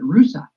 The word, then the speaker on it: Russia: Town in Ohio that is named Rusa, which is spelled the same as Russia, but they pronounce it Rusa.